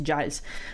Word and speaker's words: Giles: effettivamente il fatto che gils o giles lo chiamerò gils ma in realtà dovrebbe pronunciarsi giles ehm è un antieroe